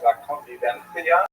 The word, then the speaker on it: La Convivencia: Spaniards say something like La Convivencia because they pronounce that C as a TH sound.